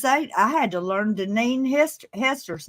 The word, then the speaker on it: Deneen: well, for goodness sake, I had to learn Deneen Hester's name to say it right, didn't I, Deneen?